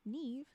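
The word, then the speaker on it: Niamh: my head I'm like then it should be the Irish n i a m h Neeve but this is never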